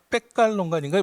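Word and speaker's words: Pekalongan: 그리고 또 이제 그 2009년에 이제 모범 사례로 인도네시아 낸 거 중에 하나가 이제 아까 백갈론관인가 뭐 발음은 이제 다르게 했는데 저희는 페칼론간이라고 이렇게 영어식으로 발음하고 있는데 페칼론간이라고 하는 그 자바서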